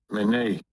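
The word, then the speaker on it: מְנֵא: Mene. All right, so it pronounced mene.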